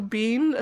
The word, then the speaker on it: Biehn: Yes, and I just love that Michael Biehn, is that how it's pronounced? Yeah, Michael Biehn, who's been in 10 million movies and about 4 of them have been good.